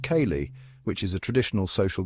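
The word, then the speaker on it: ceilidh: This music comes alive at a killlet, pronounced kayali, which is a traditional social gathering with music and dancing.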